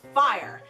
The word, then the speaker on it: Fyre: alright so we got that down it is pronounced fire it is spelled as Y re cool and